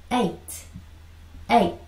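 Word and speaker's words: eight: 자, 요거 I, G, H는요, 여기서 G, H가 발음이 나지 않아요. 그래서, 그쵸? 그래서 A가 되는 겁니다. A. 얘는 발음 나지 않아요. 그리고 T가 되는 겁니다. 아시겠죠? 자, A 하고 여기 I, G, H지만 실제로 GH의 발음이 나지 않는다고요. 묵음이라고 하는데 그렇습니다.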